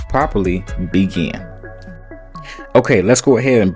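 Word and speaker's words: Bigen: Now when it comes to demi-permanent, I'm always using Beijing, but it's pronounced properly Begin.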